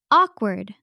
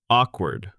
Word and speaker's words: awkward: First word is awkward. Awkward. Its pronunciation is a-quard.